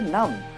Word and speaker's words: numb: প্রনাউন্সিয়েশনটা হচ্ছে নাম। স্পেলিংটা হচ্ছে NUMB। বিটা সাইলেন্ট থাকবে। অনেকে ঠান্ডাতে এরকম করে, দাঁত কড়মড় করে।